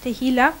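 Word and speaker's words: tehillah: Und ein anderes hebräisches Wort ist tehila. It's pronounced T-E.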